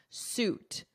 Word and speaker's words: suit: court and defend yourself notice the pronunciation I hear a lot of mistakes suit ignore this spelling here imagine it's more of a ooh sound lawsuit lawsuit fraud now